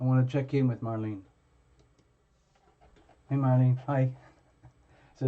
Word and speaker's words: Marlene: you tell me again is it like Marlena or is it like is it sorry is it like is it Marlene like two syllables like Marlene or is it ma Lena like three syllables Marlena okay the reason I'm asking is probably I'm probably gonna end up saying your name a few times so case two syllables Marlene Marlene Marlene got it